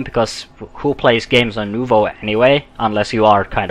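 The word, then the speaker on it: Nouveau: than when I used Novo, or Nuvo, as I should probably pronounce it.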